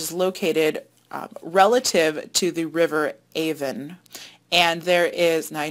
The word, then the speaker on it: Avon: So that is where Stonehenge is located relative to the River Avon. And there is, now I know you're from Rochester and you probably pronounce that Avon, but in southern England they pronounce it Avon.